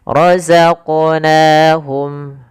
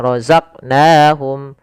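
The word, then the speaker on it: رَزَقْنَاهُمْ: Pada lafal qaf ini kita kita pantulkan huruf qafnya. Kesalahan yang terjadi adalah tidak memantulkannya. Misalnya razaqnahum, harusnya itu yang pertama. Kesalahan yang kedua menambahkan hamzah. Misalnya razaqnahum, nah harusnya mengalir.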